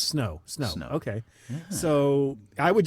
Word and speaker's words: Snö: Wouldn't you call it snö? Yeah. It's pronounced snö, but snow is... Yeah, it's snow.